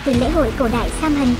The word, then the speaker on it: Samhain: Nguồn gốc của Halloween bắt nguồn từ lễ hội cổ đại Samhain của người Celtic, phát âm là heo nái.